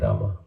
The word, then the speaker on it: Rama: one mantra you didn't Ram you didn't completely the name you should pronounce the complete name of Rama Rama you say Ram Rama okay